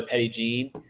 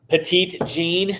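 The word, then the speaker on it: Petit Jean: I also really enjoy Petty Jean petite Jean that's what I that's how I pronounced it the first time I said I was going to go there to Cam and Grant I was like I'm gonna go to petite Jean and they're like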